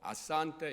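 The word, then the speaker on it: asante: 악센트가 뒤에서 두 번째 음절에 있어요. 모음에. 그래서 잠보, 아싸한테 이렇게.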